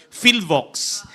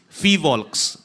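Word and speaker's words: PHIVOLCS: He began his career at the Philippine Institute of Volcanology and Seismology or Fivol cuz often times people mispronounce this as filox. So it is fivolks way back in I have to state the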